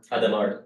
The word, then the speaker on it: Hadamard: One of the example is applying a Hadamard, I don't know. Adamard, he's a French, H is silent, but I okay.